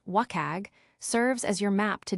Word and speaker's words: WCAG: WCAG, pronounced WAG, serves as your map to digital inclusivity.